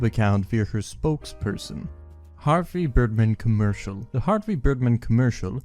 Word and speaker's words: Birdman: commercial for the Harvey Birdman attorney at law volume one DVD set or Harvey dirman as he seems to pronounce it always willing turn earn